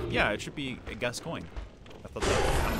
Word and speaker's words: Gascoigne: But I'm pretty sure it's just pronounced Gascoigne. Pretty sure that's just how it's pronounced. Maybe I'm wrong, and it's like Gascoigne or something. It's like a really hard thing to pronounce. But I always thought it kind of sounds similar to Gaston from like the freaking Beauty